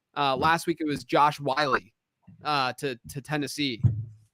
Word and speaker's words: Whyle: Last week it was Josh Wiley to Tennessee. That's how you say it, right? WHYLE, Wiley, isn't it?